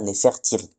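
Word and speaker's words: Nefertari: Et là alors pourquoi le A a été transcrit pourquoi le I égyptien a été transcrit en A en ? Ça c'est juste une purement pour faciliter la prononciation des Grecs. Mais bon, en vrai on devrait dire Nefertyri.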